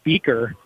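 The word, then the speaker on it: Buecker: A little bit of a return there for Rochester's number 4, Henry Beaker. It's pronounced like Beaker that we're used to and spelled very similarly, B-U-E-C-K-E-R.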